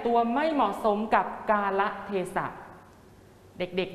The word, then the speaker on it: กาละเทศะ: เหมือน กัน นะ ครับ คำ นี้ เป็น คำ 4 พยางค์ อ่าน ว่า กาละเทศะ หมาย ถึง เวลา และ